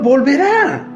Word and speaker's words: volverá: Al comienzo del versículo 19 dice: el Señor volverá, con un acento en la A, volverá a tener misericordia.